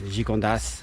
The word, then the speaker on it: Gigondas: I feel like in the in the north you're more likely to have a silent s at the end of um a word or a town but here in the south they usually pronounce the as it's like with the wines Gigondas, Vacqueyras and city Aubenas, not too far away